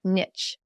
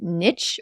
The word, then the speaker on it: Niche: So first, I have to ask, is it niche or niche? How do you pronounce this word? Because I've never known. No problem. Great question. It's actually a question that comes up all the time. I grew up saying niche.